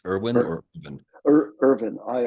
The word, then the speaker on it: Irvin: yolum is it help get make sure I pronounce his name correctly it's Irwin or vin Irvin i r v i n yolum y o